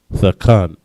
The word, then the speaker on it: thakan: Unequal in the Hebrew is thakan. Thakan. Tha, ka, and na. Thakan. Next word.